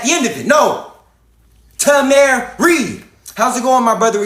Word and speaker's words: Tameri: all come from the country that is called Tamary. Tamary. It is spelled T A M E R I. Tamary.